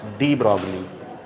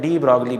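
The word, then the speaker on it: de Broglie: इसके घर वाले इसको बोलते थे डी ब्रो। वहाँ पे फॉरेन में क्या है, कई सारी स्पेलिंग्स जो होती हैं वो साइलेंट होती हैं। तो डी ब्रो हम लोग पढ़ते हैं डी ब्रॉगली, 3-4 फालतू जोड़ दिए हैं।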